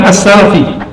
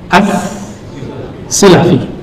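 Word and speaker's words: as-Silafi: lalu berpindah lagi ke ini bacanya bukan Selfi ya abuir Ahmad bin Muhammad bin Ibrahim assi bukan Bacanya apa As asilafi bukan asalafi as silafi ini seperti Syekh Yas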